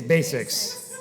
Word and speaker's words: BASX: I could start out with the pronunciation it's Basics yeah it is what we